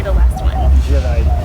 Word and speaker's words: Gerais: Gerais. Gerais.